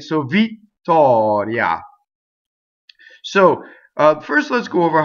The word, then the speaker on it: Vittoria: First of all, we have a double T. We have a strong E, and then we have a semi-vowel. I vowel, right? So I vowel is E in Italian, right?